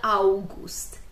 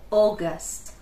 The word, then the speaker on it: August: Zwróćcie uwagę na wymowę. To jest przez długie O. Zawsze jak mamy AU, to nie mówimy August. Nie. Tam będzie wymowa przez O. To nie może być, nie musi być takie bardzo długie to O, ale ono jest bardzo takie niskie i takie gardłowe trochę.